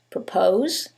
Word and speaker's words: propose: However, in the first one, it's the second syllable that's stressed, and in the second one, it's the first syllable, and that changes the pronunciation completely.